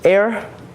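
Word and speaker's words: Ayr: go for that um the thing I found out is air is spelled um a yr for us um it's just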